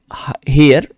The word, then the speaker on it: heir: Next question पर चलेंगे, हु is made हेयर of Duncan's throne. Duncan की throne का हेयर कौन बनाया गया? हेयर का मतलब HEIR, एयर, एक्चुअल प्रोनाउंसिएशन इसका होता है एयर, ठीक है।